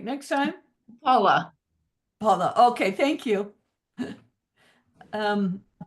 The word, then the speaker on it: Paola: okay thank you and I don't want to mispronounce your name ala you want to try that again yeah paa P paa yes hi I'm uh just a